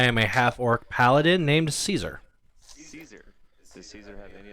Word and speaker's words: Caesar: Is he spelled like Kaiser? Or is it- C-A-E-S-A-R. Kaiser. Yes. Kaiser. So I will vary in pronunciation between Caesar and Kaiser depending on what I feel.